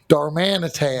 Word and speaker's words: Darmanitan: Darmanitan. There you go. Yeah, George for for weeks couldn't pronounce Darmanitan for some godforsaken.